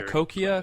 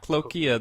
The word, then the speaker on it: cochlear: Yeah, cochlear. cochlear. It's not cloakia because that's something related to the birds and the reptiles.